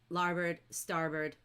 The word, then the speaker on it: starboard: But in the book, and even though it looks like it says larboard and starboard, it's pronounced bird. So larboard, starboard, and they're the left and right sides of a ship.